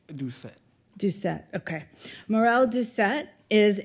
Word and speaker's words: Doucet: You can pronounce it Doucet.